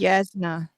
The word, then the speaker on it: Jasnah: It's Yasna. Yasna.